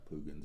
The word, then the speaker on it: Poogan's: And I'm hoping I'm saying it right. Poogan's, it's Poogan. So it sounds like Poogan.